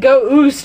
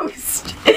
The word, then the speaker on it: Ghost: I thought you said go oost. I was like, what? Ghost. Another name pronunciation going wrong.